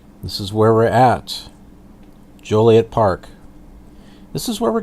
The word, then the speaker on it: Joliet: So anyway, Joliet I think would be Jolliet. This has only got one L, so Joliet.